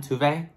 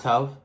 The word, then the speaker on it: Tove: wait a second she said tve low so I've been saying it wrong this whole time tuve not Tove okay sorry T go